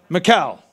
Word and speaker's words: Michal: And remember Michael or Michelle, whatever, how would you pronounce her name? Michal.